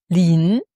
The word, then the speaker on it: 林: quand c'est deux bois, ça se prononce lin.